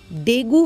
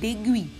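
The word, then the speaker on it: dengue: अब देखो हमारे इंडिया में इसे डेंगू कहते हैं, बट एक्चुअल में करेक्ट प्रोनाउंसिएशन इसका डेंगू नहीं है। हिंदी में हम इसको डेंगू डेंगू करते हैं, इसको एक्चुअली में इसका करेक्ट प्रोनाउंसिएशन इंग्लिश लैंग्वेज में है डेंगुई।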